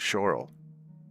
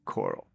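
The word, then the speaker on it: Chorrol: But there's a a town called Coral, which starts with a ch. Nobody ever calls it Shorel or Choral. It's always Coral.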